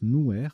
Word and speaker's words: nouer: Alors, nuée, N-U-E-R, c'est un verbe, mais c'est aussi un adjectif qui se prononce nouer, N-O-U-E-R.